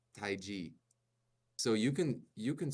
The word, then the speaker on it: tai chi: use it but anyway in America it's Tai Chi okay you hear the way that I said that but in Chinese it's Tai so if Tai G so you can you